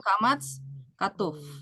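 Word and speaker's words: קמץ חטוף: Tapi ada juga yang dibilang kamats katuf ya.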